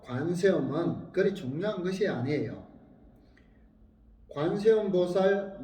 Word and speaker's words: 관세음보살: 관세음보살 명호를 올바르게 불러야 함이 마땅하지만 노보살님의 경우에 그렇게 발음이 안 되는 분도 있습니다. 당신은 간세음보살, 간세음보살 이렇게 하지만은 당신의 모든 정성과 생각은 우리들의 기처 관세음보살님을 생각하고 염원하고 있지 않는가 하는 거예요.